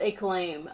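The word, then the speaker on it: Acclaim: Achim was a company that produced a claim pronounced a claim oh okay oh okay no I wasn't old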